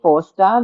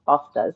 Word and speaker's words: Forster: First of all, I love that you pronounce my surname correctly, Forester. Many people when they see it, they just seem to the R disappears into the ethers and they just pronounce Foster.